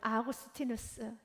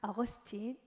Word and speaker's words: 아우구스티누스: 여러분들이 잘 아는 여러분 아우구스티누스, 영어식 발음을 한다면 어거스틴, 여러분이 잘 아는 성 어거스틴.